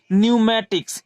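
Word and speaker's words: pneumatics: भी क्या है हमारा एन के पहले पी है तब यहां पी क्या रहेगा हमारा पी साइलेंट रहेगा तो इसे हम क्या पढ़ेंगे न्यू मैट्रिक्स यानी पी को छोड़कर यहां से जान करना शुरू करेंगे एन से न्यू मैट्रिक्स इसे हम क्या पढ़ेंगे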